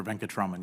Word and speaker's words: Venkataraman: Venkataraman, is that the correct pronunciation? Sir, Venkataraman, yes, sir.